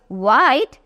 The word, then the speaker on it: white: WH வரும்போது H is silent. So, were-eyed, white, were-eyed.